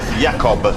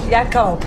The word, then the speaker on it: Jacob: Yakob. Yakob. Yakob. Yakob. Yeah. Into a cinema. Jacob, but pronounced Yakob.